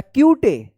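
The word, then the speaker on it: cute: देखिए रूल्स था कि ई से, यानी ई लास्ट में रहेगा, ई से पहले अगर यू रहता है तो इस यू का यू उच्चारण होता है, क्या पढ़ेंगे इसको? क्यूट पढ़ेंगे।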